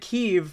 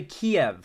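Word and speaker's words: Kyiv: that's a good point that's how Russians pronounce keev ukrainians say it keev Russians say Kev oh that's a good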